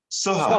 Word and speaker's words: Soha: Soha, I think it's Soha, I think that's the way you pronounce it. And I've been corrected on that. Go ahead, Ash. Soha. Soha? Yes.